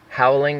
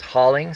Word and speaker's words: hauling: to power now now it's not pronounced howling it's hauling sorry I mispronounced it